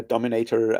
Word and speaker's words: Dominator: high school that was called Dominato um obviously pronounced in German but spelled the same way because you know it's